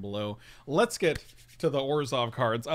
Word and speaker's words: Orzhov: Orzhov. Which is how they say it. I don't like saying it like that because it feels like too much work.